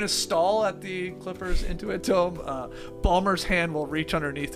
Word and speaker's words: Intuit Dome: the Clippers in the Intuit Dome. I'm just pronouncing it that way because I do say Inuit Dome sometimes.